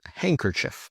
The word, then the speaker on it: handkerchief: And handkerchief.